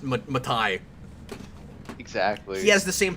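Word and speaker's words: Matei: the same way but it's it's pronounced it's pronounced matai exactly he has the same problem that uh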